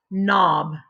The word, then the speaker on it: knob: Again, our focus is spelled KN. Like a nest. A, like an octopus. B, like in bicycle. And the word is knob, like the doorknob.